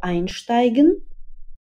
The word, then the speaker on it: einsteigen: Итак, давайте сначала повторим глаголы einsteigen, aussteigen и umsteigen. Это глаголы с отделяемыми приставками, поэтому ударение падает именно на приставку.